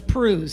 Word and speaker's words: Pruhs: It rhymes with cruise, but it's Pruhs, okay?